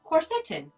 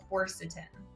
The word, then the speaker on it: quercetin: then my little like google thing was like corseten corseten so so how am i supposed to say how do you say it and again you know maybe the rest of the world does pronounce it that way in my school and in my little bubble of naturopathic medicine um i pronounce it quercetin yeah quercetin um so